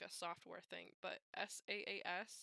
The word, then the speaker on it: SaaS: I know it's like a software thing, but SaaS, like SaaS. I don't. How do you? Software as a solution, SaaS. But is that how you say it then? Just SaaS if you're reading Yeah, it.